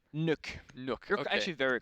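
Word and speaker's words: Nøkk: You see, I would say Nook, but I know you have your special pronunciation. How would you say her name? Nook.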